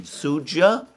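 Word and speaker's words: Суджа: They tried to advance in this area as well to support their main forces in Sudzha. Apparently you pronounce the D.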